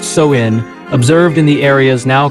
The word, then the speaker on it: Samhain: The primary precursor to Halloween is the ancient Celtic festival of Samhain, pronounced Samhain, observed in the areas now comprising Ireland, the UK, and northern France.